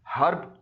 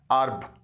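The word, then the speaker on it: herb: homage honest आयर अर्ब इसे आमतौर पर हम लोग हर्ब बोलते हैं लेकिन इसका सही तलफ्फुज है अर्ब अगर एच किसी लफ्ज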